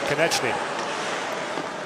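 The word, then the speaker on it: Konečný: next to us, are taking issue with Konechny's pronunciation. What do they think it should be? Konechny.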